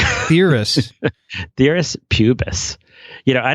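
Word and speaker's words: Pthirus: how to pronounce well i think the p is silent right so it would be theorists dearest pubis you know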